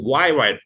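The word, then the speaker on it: hyoid: সো ছোট উপসিলন যেটা আছে ইউর মতো দেখতে, সো এটার নাম হচ্ছে এর মতো, কিন্তু উচ্চারণটা হয় হচ্ছে বড়টার সাথে, অর্থাৎ ওয়াই ওয়াইড বোন, ওয়াই ওয়াইড বোন।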